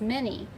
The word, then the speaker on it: many: two syllable word many so that y is acting like an e because remember we say in a two syllable word y says e many and these are